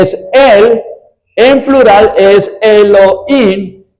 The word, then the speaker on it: Elohim: el nombre de Dios que se pronuncia Elohim." Elohim. Y cuando los cuando se escribe en hebreo, el plural siempre termina en im.